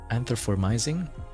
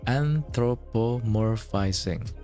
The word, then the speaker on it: anthropomorphizing: An anthro anthromising. Feel like that's the wrong anthropo. Oh, anthropomorphizing. There's like two extra syllables that I didn't know.